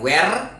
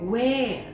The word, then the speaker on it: where: Bukan where ya bacanya, tapi where. Ya R-nya nggak terlalu dibaca gitu.